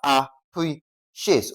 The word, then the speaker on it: appreciate: So, for appreciate, the stress is on what now? Pre. Okay, that's a preciate.